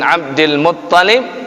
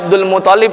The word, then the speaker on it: Abdul Muttalib: Hashim itu adalah kakek kedua Nabi sallallahu alaihi wasallam setelah Abdul Muttalib, ya. Jangan dibaca Abdul Muttalib, ya. Jangan dibaca Abdul Muttalib juga, tapi yang benar Abdul Muttalib, ya. Syiddahnya, tasydidnya ada di huruf ta.